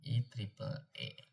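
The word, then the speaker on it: IEEE: Institut Insinyur Listrik dan Elektronika IE diucapkan I tri E I E E E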